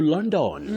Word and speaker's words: London: Now in this case that first letter O takes what we call the mid central sound uh uh just like in the word love.